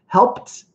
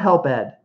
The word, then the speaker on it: helped: Helped out. Not help ed. If a past tense regular ed verb in English ends with a P sound, it's almost always going to be a T pronunciation, especially in American English. I never say helped.